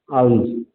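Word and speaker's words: alms: Example देखते हैं, जैसे the bagger bags आर्म्स। आर्म्स कहते हैं इसको, एल साइलेंट होता है, और इसका मतलब क्या है कि जो बैगर है वो भिक्षा मांगता है।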